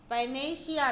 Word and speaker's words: panacea: लक्ष्मण के लिए, तो वो क्या कहा जाएगा, पैनेशिया, ध्यान रखें पैनेशिया, PANACEA, स्पेलिंग भी आया हुआ एग्जाम में पैनेशिया, तो